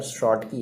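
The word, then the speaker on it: Schottky: ये तो प्रोनाउंस करेंगे यार, शॉर्ट की है ना, SCHOTT की भाई, ठीक है, शॉर्ट की डिफेक्ट कहेंगे।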